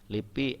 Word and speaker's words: LIPI: kita sebutnya SIM ya Lipi l i p i sebenarnya Tapi karena ada huruf vokalnya jadi kita membacanya seperti kata ya itu akronim ada bulok